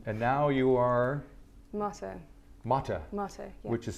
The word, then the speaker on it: Motte: Motte, Motte, yeah. which is spelled M-O-T-T-E.